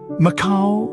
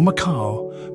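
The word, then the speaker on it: Macau: let's spell a place maau or maau both are correct MAAC AO or MAA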